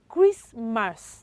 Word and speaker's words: Christmas: So it is Christmas, not Christmas. Okay? The T coming after letter S is what? Is silent.